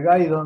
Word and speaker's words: Gaido: Gaido nomás, dos sílabas. Gaido. Sin acento, sin nada.